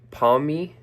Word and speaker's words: Pawmi: Pawmi Pawmi That's how you say it. Sounds like Pawmny.